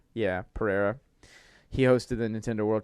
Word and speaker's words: Pereira: was the Kevin, I don't know how to pronounce his last name. Kevin Pereira. Yeah, Pereira.